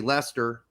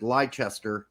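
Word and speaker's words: Leicester: but um but he also couldn't say Lester he said lie Chester if it was the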